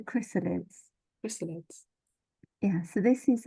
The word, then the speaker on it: Chrysalids: bringing you the chrysalids chrysalids by John Winden not the crysa salads how I was trying to pronounce it a moment ago oh God I'm so sorry it's the chrysalids chrysalids yeah so this